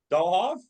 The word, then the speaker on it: Dahlhoff: Okay, Dahlhoff.